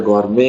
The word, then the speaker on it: gourmet: इसको लिखते गवर्नमेंट है, पढ़ते गौरमे है।